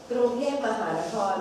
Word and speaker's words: กรุงเทพมหานคร: And we call, okay, I will pronounce for you. กรุงเทพมหานคร อมร รัตนโกสินทร์ มหินทรายุทธยา มหาดิลก พงศ์นพรัตน์รัชธานีบุรีลมอุดมราชนิเวศ มหาสถาน อมรวิมานอวตารสถิต สักกทัตติยะ วิษณุกรรมประสิทธิ์ So it's a whole name of Bangkok.